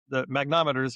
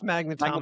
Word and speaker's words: magnetometers: Remember, Trump even wanted to take down the magnometers, right? Yeah. Magnometer. How do you say I think magnetometers? it's magnetometers Magnetometers.